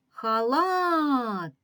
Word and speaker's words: халат: другий склад лад халат погукаємо до себе халат щоб визначити наголошений склад халат халат Ми добре чуємо що останній склад тобто другий ми вимовляємо сильніше протяжніше збільшую силою голосу Отже другий склад наголошений наступне слово називає предмет